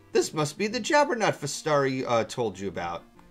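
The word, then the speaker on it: Festari: Fastari. That's how it's pronounced.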